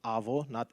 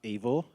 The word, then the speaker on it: Avo: speaking people it's pronounced AO AO it comes from avocado but I couldn't find